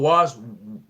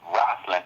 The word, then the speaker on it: Rosslyn: Is that the one you call Warswell? I'm mispronouncing. Yeah, Rosslyn Chapel.